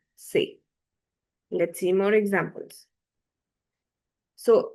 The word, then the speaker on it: ces: And the pronunciation of this and this is the same, set. This is sir and this is say.